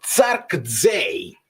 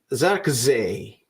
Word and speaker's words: Zirkzee: La pronuncia di Zirkzee è Zarkzee, con le Z molto leggere, se mi interessa tantissimo. Allora, Zee è una E, quella là, perché è una E al contrario. Z leggere. Zarkzee.